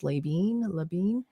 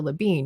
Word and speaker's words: Labine: Like so you've got Tyler, I don't know how it's pronounced, Labine, and Alan. Levine, probably. That's what I figured, it's Labine.